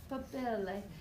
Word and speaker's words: papillae: Okay, you got to say it like you're an Italian. papillae.